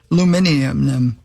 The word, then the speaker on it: aluminium: And that is correctly pronounced aluminium.